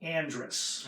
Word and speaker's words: Andres: in Cincinnati and Ohio they pronounce it Andress okay like Ursula Andress but she has two s's all right but one